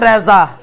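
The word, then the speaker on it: رضا: যেমন কারো নাম হচ্ছে রেজা, নাম কি? এটাকে আমরা রেদা বলবো না, বা রেদ এরকম বলবো না, বলবো রেজা, রেজা।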